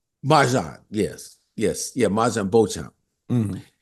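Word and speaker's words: Marjon Beauchamp: You got his Is it name wrong. Marjon? Marjan, yes, yeah, Marjan Beauchamp.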